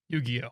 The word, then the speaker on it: Yu-Gi-Oh!: Yu-Gi-Oh!